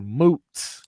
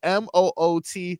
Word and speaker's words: Moot: Moot. Anyone heard of? Wait, moot? spell it. MOOT. Moot. Yeah, like hey, you like a moot point.